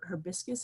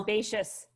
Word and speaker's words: herbaceous: So the smell is more like a citrus with a hibiscus. Is that how you say it? It's like a smell. Herbaceous.